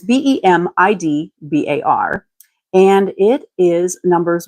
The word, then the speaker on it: Bamidbar: So this week's portion, week 34, is Bamidbar. No idea how it's truly pronounced, but it's Bemidbar.